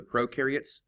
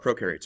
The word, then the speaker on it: prokaryotes: Let's go over what prokaryotes are. First, I use the little mnemonic that pro rhymes with no.